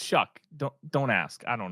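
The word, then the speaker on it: Shough: It's spelled like show, but it's pronounced Shuck.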